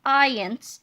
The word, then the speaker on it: iance: to skip these parts ions pronounced ions ions is one of